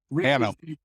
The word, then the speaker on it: Hannam: Rick, I'm going to get your last name wrong. I apologize for that. Hannam.